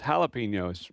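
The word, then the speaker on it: jalapeño: And she chuckled and said, "That's jalapeno." No, I'm looking at it right here. It's a J. Jalapeno. She said, "Well, in Texas when you see a J oftentimes it's pronounced with an H."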